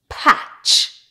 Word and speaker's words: patch: Normally, when you have a word that has T before CH, the T is silent. For example, butcher, catch, match, patch, scratch, witch.